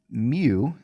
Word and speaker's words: mu: on this remember that mu is a greek letter it's pronounced mu kind of like the pokemon and it is the